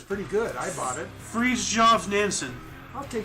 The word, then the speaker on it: Fridtjof: Fridtjof Nansen. I'll take Fridtjof.